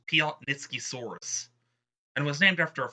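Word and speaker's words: Piatnitzkysaurus: So, apparently it's pronounced Piotnitskisaurus, and was named after a famous geologist.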